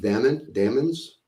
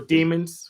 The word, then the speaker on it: daemons: I think Machine, you said it earlier, Socrates, something about is it pronounced daemons? That essence, that entity. Daemons. Yep. Or demons. Either pronunciation I'll accept.